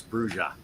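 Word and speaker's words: Brujah: I always tell people, you know, in the first edition book, it had a pronunciation guide, and it's Bruja.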